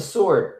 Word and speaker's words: sword: like, oh my gosh, there is actually a W in there. Have I been saying it wrong all this time? And then I just started saying, you know, transitioning into sword.